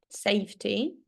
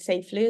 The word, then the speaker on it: safety: Safety. Safety. Safety. Yes, I think you read it like safely or something.